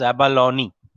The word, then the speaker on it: abalone: Usually they pronounce it as abalone, okay, as it is mentioned here.